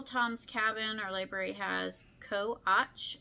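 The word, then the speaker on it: Co. Aytch: Co-Och. It's spelled Co.Aytch.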